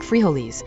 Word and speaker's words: frijoles: For that reason, I would expect an English speaker attempting to pronounce frijoles either to try to match the Spanish pronunciation with something like frijoles, with the accent on the ho syllable, or to keep the